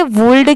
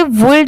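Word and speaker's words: would: बहुत सारे लोगों को इसमें भी कंफ्यूजन होता है कि इसे वुड क्यों नहीं पढ़ते? क्योंकि यहां पर तो एल दिया हुआ है। तो देखिए इसे वुल्ड इसलिए नहीं पढ़ा जाता क्योंकि यहां पर एल लेटर साइलेंट है। सिर्फ लिखते टाइम यहां पर डब्ल्यू ओ यू एल डी लिखा जाता है। बाकी पढ़ते टाइम यहां पर एल लेटर साइलेंट होता है।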